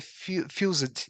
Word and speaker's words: fused: The pronunciation of the fused or fused. Fused. Yeah. So this, Fuse. the E is silent.